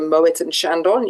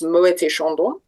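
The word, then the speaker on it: Moët & Chandon: I was lucky enough to work for Mo and Shandon in in pronounce the T, it's Muet Shandon in California.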